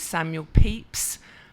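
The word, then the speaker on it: Samuel Pepys: great far of London his name is Samuel peeps but it's not spelled like what it sounds but I did not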